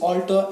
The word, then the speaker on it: altar: सबसे पहले ये बात समझो कि दोनों का जो प्रोनाउंसिएशन है वो सेम है। इसे भी हम ऑल्टर पढ़ते हैं, इसे भी हम ऑल्टर पढ़ते हैं, ठीक है? ओ का साउंड से स्टार्ट होता है।